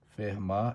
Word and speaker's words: Fermat: a E aí Oi Fer mar era francês e o tio final não pronuncia e ele foi um